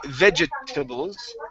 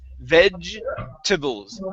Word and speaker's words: vegetables: we do not say vegetables the e it's here in the middle this e is silent okay we do not pronounce it uh so instead of saying vegetables it's vegetables vegetables vegetables try that